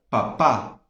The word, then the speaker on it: papá: Temos papa, né, que seria batata, né, em português. Papa. E temos a palavra papá, que seria pai, certo? Então, papa não tem acento. E papá tem acento na última sílaba.